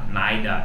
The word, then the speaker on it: neither: Muita gente fala either e neither também. É uma pronúncia também aceita, vai de cada, vai do lugar. Either e neither, tem aida, naida. Eu não falo assim, eu acho muito ardido. Aida, naida. Parece meio alemão, parece um soldado nazista falando.